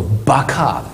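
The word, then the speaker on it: בכא: 正しく発音するとバカーです。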